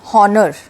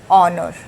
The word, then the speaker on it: honour: इसे बोलते हैं, तो इट इज़ not pronounced as हॉनर। What it is pronounced? It is pronounced as ऑनर। इसका प्रोनाउंसिएशन क्या होता है? ऑनर।